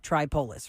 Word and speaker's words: Tripoli: Tripolis, right? The name of my parents' town is Tripoli. That's how you pronounce that.